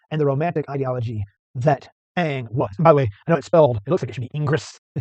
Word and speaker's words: Ingres: the Romantic ideology that Eng was. And by the way, I know it's spelled, it looks like it should be Ingres. It's French, so his last name is Eng.